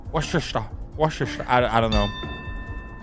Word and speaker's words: Worcester: Ah, not Worcester. Worester.